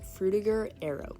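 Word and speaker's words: Frutiger Aero: times but to clarify it's pronounced fruitiger Arrow I don't think some people say Fruita I don't know but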